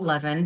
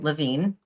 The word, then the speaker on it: Levin: It was started by Scott Levin, who is the CEO. It was started by, and I think they pronounced the name Levine.